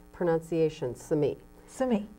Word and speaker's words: Simi: the correct pron iation Sami Sami that's from an Indian name yeah shiji for The Villages that were the village that was in Sami Valley for many many